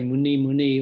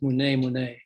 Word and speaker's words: Mune Mune: Often people say Muni Muni or something like that. He said it's Mune Mune.